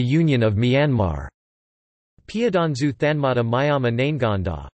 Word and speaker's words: Myamah: Depending on the register used, the pronunciation would be Bama pronounced BMA or Myama pronounced Mijma.